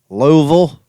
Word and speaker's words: Louisville: in louisville that's all louisville louisville that's how you pronounce it louisville kentucky l-e-w v-u-l louisville i was there